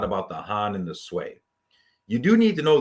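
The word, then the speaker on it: Sui: be as follows Han sway that's how you say that sway tongue and yang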